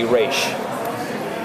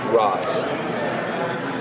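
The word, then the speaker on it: Ra's: If you are outside of the League of Assassins and someone who is rogue and it's a way of disrespecting the leader, you say Roz.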